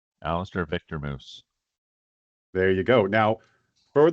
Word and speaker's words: Moes: given name Alister Victor moose there you go now for the listeners alistair's last name is actually spelled m o e s but you pronounce it how Moose like the animal the hair product the